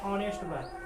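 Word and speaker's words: honest: बॉय ऐसे लिखते हैं ये देखने में ह क्या है कंसोनेंट है लेकिन इसका उच्चारण हम लोग बदल दिए हैं ठीक है यानी की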